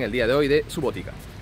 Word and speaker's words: Subotica: patrona de la ciudad de subotica o su gotita como han dicho que se pronuncia es santa teresa de